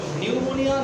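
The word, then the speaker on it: pneumonia: এই যে দেখেন পি এন ই নিউমোনিয়া। হ্যাঁ, পি এর উচ্চারণ হবে না। নিউমোনিয়া, নিউমেটিক।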